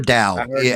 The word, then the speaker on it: Tao: Tao or Dao? However you want to pronounce it, Tao or Dao. But I'm saying Tao cuz that's the way it's spelled and that's how I've always pronounced it.